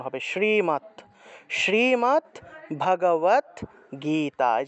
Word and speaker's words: গীতা: এভাবে উচ্চারণ করতে হবে গ তে গেট একটু টান দিতে হবে কারণ দীর্ঘ ইকার আছে গীতা গীতা এভাবে শ্রীমত ভগবত গীতা এভাবে